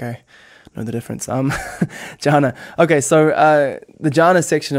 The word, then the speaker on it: jhana: Yeah, jhana or dhyana. Dhyana, if you want to be Sanskritier, but I like jhana because I'm more Pali most of the time.